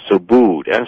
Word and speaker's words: Subud: are the author called effect which is a so booed su b UD that's how that's pronounced as well I mean so su su